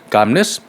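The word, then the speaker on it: calmness: यहां पे एल जो है वो साइलेंट है। कार्मनेस कंपोजर सेनिटी।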